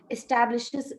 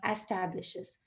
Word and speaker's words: establishes: of making a correction establishes establishes not establishes penal penalty not penalty